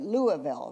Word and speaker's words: Louisville: I don't say it correctly, but Louisville, right?